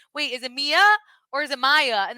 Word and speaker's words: Mia: write us one star because I said Maya instead of Mia and then corrected myself I'm over this how do